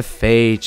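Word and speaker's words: Phage: has the item a Fage of course I feel so silly now I knew it was with a p but you don't pronounce the p a page a p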